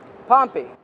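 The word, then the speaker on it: Pompey: but that's they say it hot and Aon pompe pompy yes yes you know what I like about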